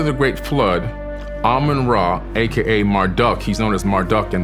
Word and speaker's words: Marduk: After the Great Flood, Amun-Ra, aka Marduk, he's known as Marduk in the Bible, M-A-R-D-U-K, some people say Marduk, depending on how you want to pronounce his name.